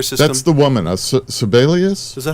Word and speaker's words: Sebelius: the Obamacare computer system that's the woman that's sibelius is that how you say it no sibelius is is the Secretary of uh hHw or Health and Human Resources that's right Health and Human Services secretary Kathleen Sebelius because I actually don't have a problem with